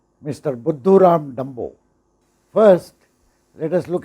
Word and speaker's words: Buddhuram: Buddhuram is a hindi word, which actually rhymes with Mr. Dumbo in English.